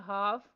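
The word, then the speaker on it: half: Next word है हाफ। इसमें से साइन लेटर एल बॉक्स में राइट करना है।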